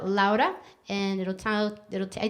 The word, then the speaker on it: Louda: name correct because it's laura because it's laura because it's loud up but it's spelled l-o-u-d so it's like loud and then ah so it's laura yeah and as long